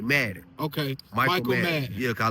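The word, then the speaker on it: Maden: Madden is spelled is M A D E N. Like the game like Madden.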